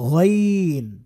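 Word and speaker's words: غين: এটার নাম হয়ে যাবে গাইন গাইন বাংলায় যে গ আছে আছে না গ ওই গ কে কে একটু মোটা করে বলতে হবে গ তাহলে গাইন হয়ে যাবে কারণ গাইন হরফটা যথেষ্ট মোটা একটা হরফ আর বাংলায় যে ক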